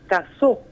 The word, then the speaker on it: Casaux: Entonces, no sé, por ejemplo, un apellido que se escribe Casaux, claro, se pronuncia en francés Casó.